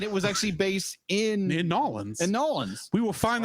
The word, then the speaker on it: New Orleans: In Nolans.